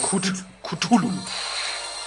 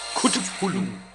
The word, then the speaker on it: Cthulhu: Moment, wir leben in Deutschland. Cthulhu. Cthulhu. So spricht man es in Deutschland aus.